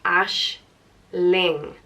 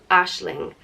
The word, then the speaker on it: Aisling: or a dream and it's pronounced ash Ling Aisling and another variant of Aisling is you take away the G and add in another n and that would be ash lean or ash Lyn and before the 20th